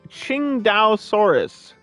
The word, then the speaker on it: Qingdaosaurus: Their name can be pronounced Qingdaosaurus.